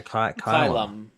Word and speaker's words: Kylum: In the meantime, Kyle Kyle Kyle Kylum, yeah, rhymes with pylum.